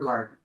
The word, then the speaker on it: Cardinal: Is it Cardina? Am I saying it right? Cardinal. Say it again. Cardinal. Cardinal, like the bird.